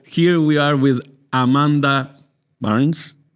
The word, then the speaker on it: Barnes: So here we are with Amanda Barnes. It's okay, how my pronunciation?